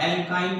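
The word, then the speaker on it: alkyne: एल्केन को ध्यान से पढ़ेंगे तो लास्ट में एन शब्द का उच्चारण होगा, एल्कीन में इन शब्द का उच्चारण होगा और एल्काइन को में आइन शब्द का उच्चारण होगा।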